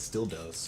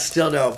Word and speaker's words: Still Doe: Oh, is that how you say his name? I kept this is still dose or. no, it's still dope.